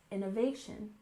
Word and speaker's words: innovation: and again we have Innovation with stress on the third syllable Innovation Innovation for example she's known